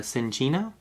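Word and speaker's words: Cinccino: phalinx zigzagoon and uh cincino so how you say it's like a coffee right so all right so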